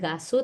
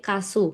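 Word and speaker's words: 가수: Oh, ini tuh bacanya bukan gasu tapi kasu normalnya.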